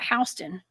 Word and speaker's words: Houston: Like, we have a Houston County here in Georgia, we call it Houston. Okay, so everything everything is mispronounced, y'all.